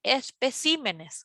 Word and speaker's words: especímenes: mismo sucede con palabras espécimen en singular decimos espécimen pueden anotar eso y en plural decimos especímenes osea que cambien nuevamente la sílaba tónica y la última oración